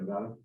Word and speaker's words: Nevada: And did I say it right, Nevada?